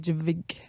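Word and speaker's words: JVKE: But there's a cool artist called Jake, and I always pronounce it Javik because it's a JV.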